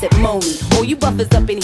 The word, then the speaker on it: Monie: Pronounce it Monie.